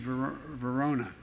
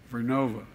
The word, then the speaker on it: Vernova: ARCOSA makes wind towers that's going to go into turbines made by GE Verona. Excuse me, I mispronounced it, Vernova, in Florida and New York.